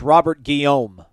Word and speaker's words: Robert Guillaume: young dave chappelle yeah uh google says it's pronounced robert guillaume guillaume there you go but correct home i